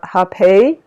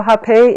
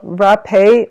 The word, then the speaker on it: rapé: the healing properties of hepei so hepe is or it's spelled r a p e with an accent so rappea or hepe it is um indigenous